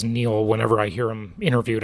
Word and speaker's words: Niall: also Niall Ferguson or Neil Ferguson I guess it's spelled like Nile but it's he says Neil whenever I hear him